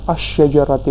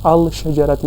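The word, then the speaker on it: الشجرةِ: पढ़ा फिर मकतबती पढ़ा, लेकिन यहाँ पर मैं पढ़ रहा हूँ अशजरती, मैंने अल शजरती नहीं पढ़ रहा। तो ये डिपेंड करता है हम अल पढ़े लाम पढ़े कि लाम को साइलेंट रखें और डायरेक्टली शीन को इससे जोड़ें।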